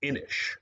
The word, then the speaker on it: Inis: at some point but it is inish it looks like it's innis but i believe it's spelled inish um inish is a